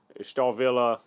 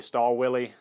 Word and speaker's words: Stahlwille: in middle school so I do know that w's are normally pronounced as V's so looking online for